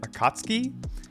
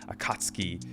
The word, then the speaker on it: Akatsuki: of the organization, but I think they call it Akatsuki. I don't think they, at least from what I've heard, it doesn't sound like they pronounced the U in it. So Akatsuki, pretty cool, very foreboding.